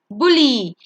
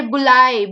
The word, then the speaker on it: bully: Bully, you don't say bulai because it has a U in the word.